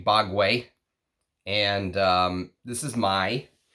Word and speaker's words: Bogue: how you pronounce that it's not Bogue it's actually bogway and um this is